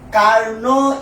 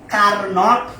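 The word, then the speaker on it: Carnot: এটা ইংরেজিতে পড়লে অনেকের কাছে কার্নট মনে হবে, কার্নট। আমি যদিও অত ভালো ইংরেজি পারি না, বাট এখানে নটের ঠিক উচ্চারণ হবে না, বলে এটা হবে কার্নোস ইঞ্জিন, কার্নোস ইঞ্জিন অথবা কার্নো ইঞ্জিন।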